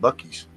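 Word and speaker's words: Buc-ee's: here and there too it's b-u-c-e-e-e-s is that Bucky's or boosies oh you're talking about Bucky's yeah well I'm truck stop stuff yeah yeah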